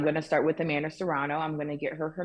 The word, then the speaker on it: Serrano: up Jake Paul uh Jake Paul uh Amanda sariani did I say her name right Toronto Serrano Amanda Serrano he supports her in a major way do